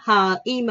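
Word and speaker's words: 힘: H cộng y cộng m, mình sẽ đọc là h i m im him.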